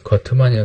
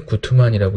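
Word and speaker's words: Guttmann: 이제 거트만이라고 되는데 구트만이라고 읽죠. 구트만은 근대 스포츠의 특성을 이렇게 수량, 합리, 전문, 관료, 세속, 평등, 기록의 특징으로 얘기를 했어요.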